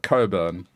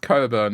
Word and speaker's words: Cockburn: We are told to pronounce it coburn. All right. Not that. Yeah, it's pronounced coburn even though it's spelled cockburn.